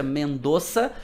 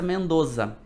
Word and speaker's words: Mendoza: ouvir as duas pronúncias assim como mendoça vocês vão também ouvir a pronúncia mendoça e também ouvir a pronúncia Mendoza tá como com quase um som de z assim um s puxado para Z as duas vocês vão as duas são corretas o que que não